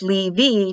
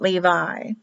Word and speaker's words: Levi: I is also pronounced like E, like a long E, not an I. So it's Levi, not Levi.